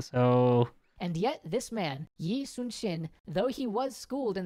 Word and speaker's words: Yi Sun-shin: And yet, this man, Yi Sun-shin, though he was schooled in the Confucian texts, had dreamed of being a soldier since he was a little boy. So it's pronounced Yi Sun-shin.